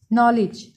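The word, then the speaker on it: knowledge: नॉलेज, इसमें के silent है, उर्दू में ऐसे लिखेंगे, इल्म को कहते हैं।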